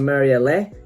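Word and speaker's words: Marialé: on this box set there's white dress from marielle that's how they pronounce it so that's how i'll pronounce it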